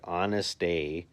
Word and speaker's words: Honestav: It's honest with a v at the end and I've heard him say it like honest.